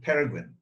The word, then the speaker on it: pangolin: All right, I'm going to ask you this question because I know that is the right way to pronounce it pangolin?